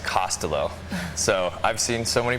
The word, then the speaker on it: Costolo: forward for Twitter but Dick's last name is pronounced costelo so I've seen so many pronunciations of it